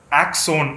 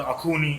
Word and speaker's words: Axone: சொல்கிற மாதிரி கான்டென்ட்லாம் வரும்போது, ஆக்ஸோன் அப்படின்ற ஒரு படம், படம் பார்க்குற வரைக்கும் அதை எப்படி ப்ரொனவுன்ஸ் பண்ணுறதுன்னு எங்களுக்கு தெரியல. AXONEனா ஆக்ஸோன் இருக்கும் போல் ஏதோ ஒரு படம் நினச்சிட்டு படம் பார்க்கும்போது அது அகூனி அப்படின்ற ஒரு வார்த்தை.